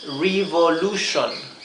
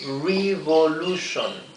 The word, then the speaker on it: revolution: la palabra Revolution Revolution Así que cuando vean la t la i la o y la n al final de cualquier palabra o o en el medio o al principio sepan que esto no se lee T T está mal es sh en esta lección Quiero enseñarles